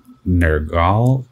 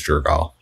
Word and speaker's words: Jergal: previous god of death nergal jerk i always remember his name wrong i think it's jergal he'll come up here